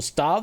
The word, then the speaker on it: stave: It's just pr pronounced stave as in staff.